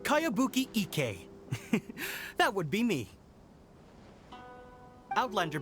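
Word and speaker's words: Kayabuki Ikkei: one i've never heard of it hmm by cowabunga icky your mia this is a really strange name who's this cowabunga it's pronounced kaiabuki ek that would be me outlander brigade is a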